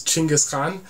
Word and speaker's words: Genghis Khan: uh so genghis khan the way his name should be pronounced is chingus khan and i was going